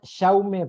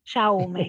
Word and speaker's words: Jaume: Sí, en realidad, Jaume I. Jaume, claro, Cuando porque es en catalán, valenciano. en catalán es Jaume, ahí está.